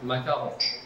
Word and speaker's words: macaron: é uma especialidade Francesa como que eu pronunciaria da maneira correta macaron macar ah Quase bom